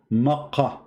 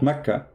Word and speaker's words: Makkah: Makkah. But it is Makkah, not Mecca.